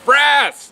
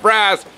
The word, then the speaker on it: frass: We're going to talk all about frass. No, not it rhymes with ass, but we're talking about frass, which is insect frass.